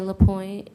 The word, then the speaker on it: LaPointe: Can you please put your name on the record and spell it? LaPointe, JIVETTEDESIREELAPOINTE.